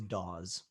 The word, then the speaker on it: Dawes: So my middle name is Dawes. Can you spell it? Dawes. Like the band.